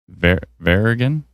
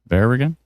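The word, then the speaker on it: Veregin: Verigan rhymes with their people helping. I love this. Verigan. Verigan.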